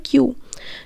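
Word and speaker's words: queue: Santra stood in দ্য কিউ, এখানে কিউ ইউ এটা উচ্চারণটা হয় কিউ কিউ, behind 8 other রিসিপেন্টস and worked out অফ the clinic by 10 AM।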